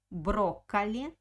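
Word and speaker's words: брокколи: next word is broccoli broccoli broccoli it's broccoli the same english word so broccoli broccoli the first or is stressed that's why i pronounced a very good sound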